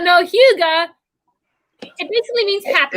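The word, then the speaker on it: Hygge: Because I thought it was Gouda. No, wait, what? It's Huga. That's how you say it, Huga.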